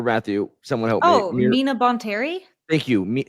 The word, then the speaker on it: Mina Bonteri: is when Ahsoka joins I'm gonna say her name wrong, Mira Aaron, help me. The Separatist planet, or Matthew, someone help me. Oh, Mina Bonteri? Thank you. Say it again. Mina Bontarian.